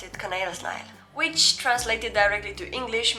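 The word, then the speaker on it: kanelsnegl: how you write it and i used to pronounce it canel snaggy i'm so glad i'm embarrassed of that i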